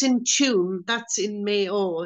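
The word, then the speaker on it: Tuam: And the place, the town is Tomb, T-U-M-E, I think, or T-U-A-M, Tomb. Yeah, 2 UAM, tomb.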